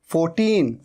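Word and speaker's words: fourteen: और ये है 14। अच्छा र के साउंड को तो आप लगभग भूल ही जाइए, इसे तो भूल ही जाइए आप। 40 और 14 र तो साइलेंट ही है।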